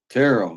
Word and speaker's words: Terrell: You know, uh, Leo Terrell, if I'm saying his name wrong, Terrell.